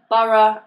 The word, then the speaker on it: borough: Some examples of O-U-G-H pronounced as are in borough and thorough. Once again though, the Americans pronounce this somewhat differently. For borough and thorough, they use the first pronunciation, which is O, like in go.